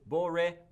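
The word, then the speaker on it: בּוֹרֵחַ: So you pronounce this boreach. That's how this is pronounced.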